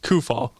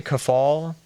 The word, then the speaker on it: Kufahl: off a body part uh pronounce kufaul kufaul okay maybe I've been saying it wrong I've been saying is it some people say kafal is it like uh